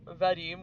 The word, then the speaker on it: Vadim: I think uh you're supposed to pronounce Vadim with like a more emphasis on the I.